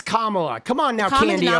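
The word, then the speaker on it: Kamala: SAY her name right, dude. Oh, dude, that annoys me. You know, it's Kamla.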